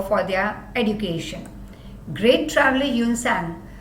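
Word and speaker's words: Hiuen Tsang: Great traveler Yun Sang also came here. T is silent.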